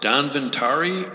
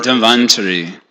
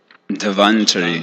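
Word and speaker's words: धन्वन्तरि: And then is it pronounced Danvantari or? Dhanvantari. I heard it was Dhanvantari. Danvantari. I always heard it pronounced that way. I stand corrected.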